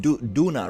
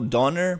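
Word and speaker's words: Döner: you live in yeah it's pronounced d Duna right d Duna Kebab if you go donor people are like oh my God another tourist my brother lives in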